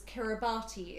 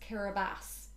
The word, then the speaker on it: Kiribati: found out the country that i thought was kiribati is actually pronounced kiribati it's spelt k-i-r-i-b-a-t-i so i thought it was